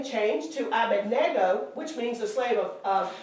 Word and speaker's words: Abednego: says Abednego Everybody But says the N, Bendigo. the N is not. yeah, before the D. It's they swap after them. the D. But it's after the D. It's Abedar. Abednego. So the correct pronunciation It's is Abednego. Abed. Nego.